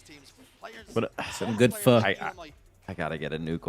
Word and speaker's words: pho: Some good or pho.